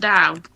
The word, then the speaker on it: Tao: Only does it mean that Tao is pronounced Dao? Oh, I'm calling him Tao anyway.